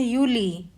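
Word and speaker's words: Juli: यू जुलाई को कहते हैं यूली।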